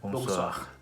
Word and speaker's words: bonsoir: journée" and for night, "bonsoir" its the same "bon" and "soir"(night) its a bit different between the pronounce and the writing, because when 'o' 'meets 'i', we say "wa" so why is 'oui...